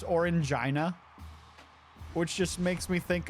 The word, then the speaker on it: Orangina: I'm sorry, that name, I'm assuming it's pronounced Orangina, which just makes me think of a infected vagina.